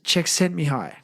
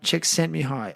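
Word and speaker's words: Csikszentmihalyi: how it's spelled, but this is how it's pronounced. His first name is Mihi Czech and surname is Czech sent Mihi. So, Mihi Czech sent me high.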